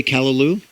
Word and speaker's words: callaloo: I've heard of how do you say callaloo?